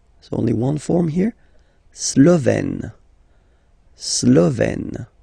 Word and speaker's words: Slovène: La Slovénie, so only one form here, Slovène, Slovène. Remember, E accent grave, you open it, Slovène.